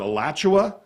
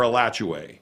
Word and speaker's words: Alachua: Is it Alachua or Alachua? I've heard it both ways. Like I said, that they're both fine.